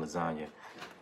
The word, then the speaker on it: lasagna: later figured out there's you can't pronounce the G in lasagna.